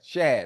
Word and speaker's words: Shad: Shad.